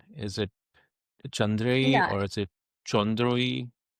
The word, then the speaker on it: Chandreyee: It's Chandre. So you can call me Chandri also.